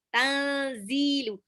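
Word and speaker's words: تَنْزِيلُ: Nah, zai-nya di sini 2 harokat ya. Tanzilu. 2 harokat itu nggak sampai panjang banget nih buat santri-santri yang baru ya. 2 harokat itu cukup 1 ayunan.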